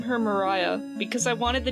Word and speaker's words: Maria: And while her name is spelled like “Maria” it’s pronounced “Mariah” in the musical, and I liked the name.